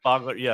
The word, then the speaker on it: Fogler: Fogler, yeah.